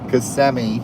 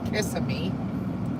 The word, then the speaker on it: Kissimmee: Kissimmee. For those who say it wrong, the Kissimmee.